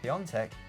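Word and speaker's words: Piątek: their last five games despite piatek or peontech if you want to pronounce it correctly but it just looks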